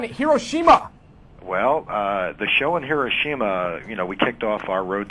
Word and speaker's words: Hiroshima: Well, the show in Hiroshima, we kicked off our Road to WrestleMania portion of the Japanese tour in Hiroshima.